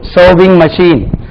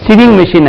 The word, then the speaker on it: sewing: சர்விங் மெஷின், சிவிங் மெஷின் அல்ல. அது நம்ம ஒரு சூவிங் மெஷின் வாங்கணும், சிவிங் மெஷின் வாங்கணும் அப்படி சொல்லக்கூடாது.